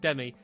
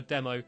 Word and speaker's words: Demi: So his girlfriend, which is actually called Demi, but I always call her Demo, as sort of a long-running joke from when I was doing a student radio show and I kept getting her name wrong.